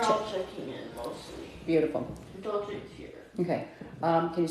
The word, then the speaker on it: Dulce: Is it pronounced Dulcie? Am I saying it right? I think it's Dolce. Dolce? Oh, wait, CE? Dolce de leche. Oh, okay, CE, not SE, right?